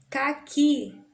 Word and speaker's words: caqui: Caqui termina em I, também não acentuo, porque são oxítonas terminadas em A, E, O, EN.